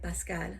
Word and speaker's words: Pascal: In Spanish, we say Pascual. But I'm pronouncing it Pascal.